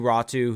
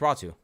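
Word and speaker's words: Räty: they got out to ratu who's a second round pickup no it's raw two oh really yeah the Y is pronounced like a u yes oh I did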